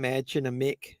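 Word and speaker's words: Mädchen Amick: you pronounce her name matching a mick is how you pronounce it from Twin Peaks I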